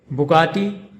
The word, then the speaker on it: Bugatti: This luxury car name is pronounced Bugatti Centodieci, Bugatti Centodieci, Bugatti Centodieci. In Bugatti, the emphasis is on the second syllable ga, Bugatti, and in chen-toh-dee-EH-chee, the emphasis is on the fourth syllable a, chen-toh-dee-EH-chee, Bugatti Centodieci.